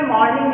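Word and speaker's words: mourning: after a few hours of मॉर्निंग, MOUR, इस जो pronunciation है उसका भी मॉर्निंग है कि कई घंटे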